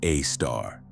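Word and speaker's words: Sagittarius A*: Our own supermassive black hole is named Sagittarius A, pronounced A star.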